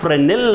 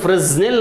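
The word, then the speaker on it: Fresnel: Silent ಆಗುತ್ತೆ, ಅದನ್ನು ನಾವು ಫ್ರೆನೆಲ್ ಅಂತ ಓದಬೇಕು. ಸದ್ಯಕ್ಕೆ ನಾನು ಫ್ರೆಸ್ನೆಲ್ ಅಂತ ಹೇಳಿರ್ತೀನಿ, but actually it a wrong pronunciation.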